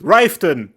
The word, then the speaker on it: Riften: It's a must-have, and I'ma be honest, all the stairs and ladders and towers, they work really well with Riften. That's how you pronounce it.